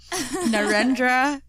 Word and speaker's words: Narendra: so in a photo essay by hmm narendra mmm let me say that again narendra i literally like googled how to pronounce these the the words and the names